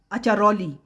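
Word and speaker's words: Acciaroli: अचरौली जिसको आप जाहिर है इटालियन लैंग्वेज में इसका प्रोनाउंसिएशन है अचरौली ठीक है A double C आई ए आर ओ एल आई एचली इस जगह पर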